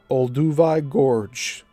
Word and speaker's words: Olduvai Gorge: Louis Leakey and Mary Leakey in Oldovy Gorge, I know there's a way to say this. I'm not doing it right. Olduvai Gorge. It's spelled Olduvai.